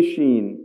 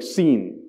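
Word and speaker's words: ش: especially the letter Sheen he couldn't say Sheen properly when he pronounced Sheen it was sng like sinen so when he's saying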